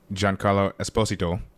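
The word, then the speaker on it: Giancarlo Esposito: surprised they had all the the footage of John Carlo Esposito um in which is actually how you say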